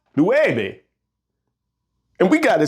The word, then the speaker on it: nueve: If it's pronounced nueve, and we got it spelled N-E-U-V-E, then that would sound more like neube, and that ain't right.